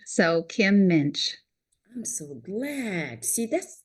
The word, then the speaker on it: Muench: have pronounce it it's Minch it rhymes with pinch so Kim Minch I'm so glad see